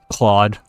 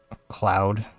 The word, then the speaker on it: Claude: Claude. I don't know what Claude is, but Cloud. I don't know how to say it. Pretty sure it's Claude. Although not CLAWED. Not that kind of Claude. CLAUDE.